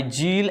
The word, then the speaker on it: Ziehl: So Jadon stain is a differential staining technique first developed by जील and later modified by Nielsen.